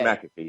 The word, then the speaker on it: McAfee: I think actually, my family has always said McAfee. Oh, so I was right. Okay. McAfee, not McAfee, but okay. It's McAfee, yes.